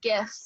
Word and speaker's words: GIF: So that one's interesting because it's technically it's supposed to be said GIF with a hard G. However, the person who coined the term pronounces it GIF.